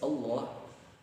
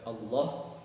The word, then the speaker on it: Allah: ada di dalam lafaz Allah. Jadi kita bacanya itu bukan pakai W, tapi tetap al. Cuma ketika Allahnya itu ada vokal O-nya, seolah-olah seperti O. Jadi ketika mengucap Allah bukan Allah, tapi Allah.